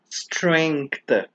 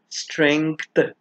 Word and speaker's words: strength: word is pronounced as strength so the letter G is not silent it is very much pronounced imagine removing th from